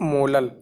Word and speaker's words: molal: स्मॉल m लिखेंगे, और स्मॉल m को जब आप यूनिट में यूज़ करेंगे तो क्या प्रोनाउंस करेंगे? मोलल.